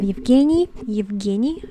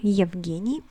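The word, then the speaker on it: Евгений: maxime next we have evgeny evgeny and it can be shown into genius i know that this uh first sound is very hard for the non-russian speaker but you have to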